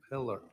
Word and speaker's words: Pillar: Polar, Detective Polar. Uh on I always say your name wrong. Pillar. Pillar.